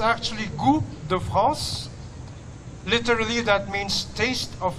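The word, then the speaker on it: Goût de France: mismong mga Fr chef ang nagtuturo sa pagluluto good France in French it's actually gr the France literally that means taste of France It is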